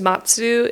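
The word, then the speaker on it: 松: thing but that's because Matsu is how you say Pine and Matsu is also the pronunciation for the verb to wait so it's like as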